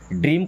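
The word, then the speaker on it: door: Dream, dream का मतलब होता है सपना। डोर, डी डबल ओ, इसको दूर नहीं पढ़ते ना, तो दूर पढ़ते, क्या पढ़ते? डोर।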